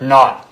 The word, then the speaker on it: knot: word not k-n-o-t not spell the K say it like it's not there not thank you it's not